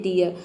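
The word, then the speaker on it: dear: हैं number five है यदि किसी वर्ड में डबल ई के बाद अगर आर आ जाता है तो डबल ई को आपको य प्रोनाउंस करना है एग्जांपल देखते हैं डियर जैसे कि आपने ई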